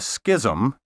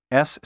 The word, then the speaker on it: schism: what you probably have often heard called a Schism s-c-h-i-s-m is in fact a schism Believe It or